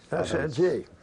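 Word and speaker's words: Saint-Dié: the line at a place I guess is pronounced Sandy. Sandy.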